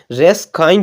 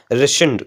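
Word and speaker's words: rescind: रेसेंड, most of the candidate इसको pronunciation गलत करते हैं, रेस काइंड बोलते हैं इसको, जबकि इसका जो करेक्ट प्रोनाउंसिएशन होता है वो होता है रेसेंड।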